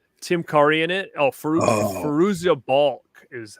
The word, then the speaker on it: Fairuza Balk: Oh, Fairuza Balk is how you say the name.